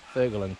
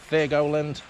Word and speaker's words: Thurgoland: Now, Thurgoland, but I think it's pronounced Thurgoland. Just roll off the tongue.